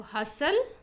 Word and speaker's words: hustle: So hustle, tsunami. In these words also T is silent.